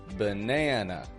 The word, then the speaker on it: banana: your ears to this banana banana this word has two schwas the first a and the final a you see awah is